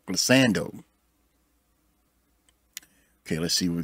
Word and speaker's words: glissando: The glissado. Am I saying it wrong? Glissando.